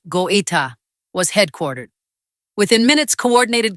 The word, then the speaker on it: Goïta: 4:56 a.m., the first reports came from near Kati, the military base where President Assimi Goïta, pronounced Go-ee-ta, was headquartered.